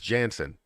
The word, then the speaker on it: Janssen: yes kim james kim jensen does everything um um so it seems like seems like people are pronouncing her name wrong because it's janssen it's with an a not an e so it's kim jansen